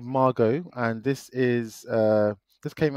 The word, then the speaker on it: Margaux: Margaux. So tell us about this, because you saw French this. French way of pronouncing it, I think. So this is called Margaux, and this is this